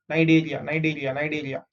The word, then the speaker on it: Cnidaria: So you don't pronounce C. Ni is Ni, Da is Day, Ria is Ria. Cnidaria.